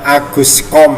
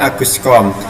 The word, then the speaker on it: Auguste Comte: Saya ingatkan untuk membaca nama Auguste Comte itu yang benar Aguscom ya, dibacanya Aguscom.